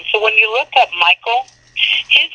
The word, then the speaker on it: Michael: those come from so when you look up Michael his name is pronounced Mikel and so I looked it up in the